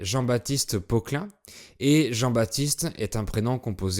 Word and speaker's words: Jean-Baptiste: called Jean-Baptiste Poquelin and Jean-Baptiste is a compound first name that is still relevant today. Moreover, those who are called Jean-Baptiste, they are nicknamed JB and the P of Baptiste is silent.